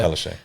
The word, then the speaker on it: Palaszczuk: So the article here says, Palaszczuk, is that how we pronounce it? Yeah, Yeah. Palaszczuk.